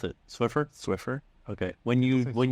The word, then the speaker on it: Swiffer: mops um are you team Swiffer or team swifter what how do you pronounce it Swiffer Swiffer okay when you when you yeah people